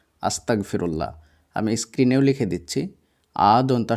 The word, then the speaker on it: আস্তাগফিরুল্লাহ: সবচাইতে ছোট দোয়া হচ্ছে আস্তাগফিরুল্লাহ যেটা আমি প্রথমেই বললাম আবারো আমি বানান করে করে বলে দিচ্ছি আদনতাস আকার গ ফয় হস্লে আকার হ আস্তাগফিরুল্লাহ এর মধ্যে আপনার সবচাইতে